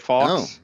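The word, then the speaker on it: Fawkes: Guy Fox day, right? You say it Fox.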